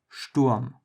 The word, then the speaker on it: Sturm: The difference here, compared to English, is that in German, the S in the beginning is not pronounced like S, but instead like sh.